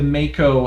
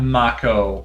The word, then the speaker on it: Mako: i'm pronouncing this the mako as in the type of shark because i'm pretty sure